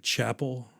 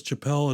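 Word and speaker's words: Chappell: thought it was like Chapel Chapelle no I thought it was Chapelle it is Chapel it is pronounced like Chapel it's I I read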